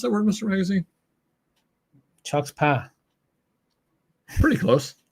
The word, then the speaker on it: Chutzpah: How do you pronounce that word, Mr. Magazine? Chuck's Pa. Pretty close. Chutzpah.